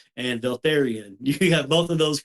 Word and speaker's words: Vaeltharion: correct was my last name of and Altharian. You got both of those correct. I've got a gift for pronunciation.